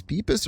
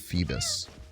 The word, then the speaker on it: Feebas: Beepbis or feebis best. I feel like this dude would have a hard time pronouncing peas. So, we're going to go with feebis. Obviously, febas is the right one.